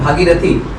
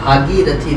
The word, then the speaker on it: भागीरथी: महाराज जी थोड़ा प्रोनाउंसिएशन भागीरथी, हाँ, श्री भागीरथी धाम। श्री भागीरथी हाँ, धाम।